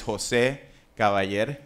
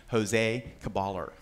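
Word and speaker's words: José Caballer: i are both graduates my name is jose gawayer that's the spanish pronunciation for those of you who do not speak spanish jose caballer so all right thank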